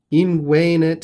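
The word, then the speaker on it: invenit: who were money changers in wayne it here the accent is on the second to last syllable is our third person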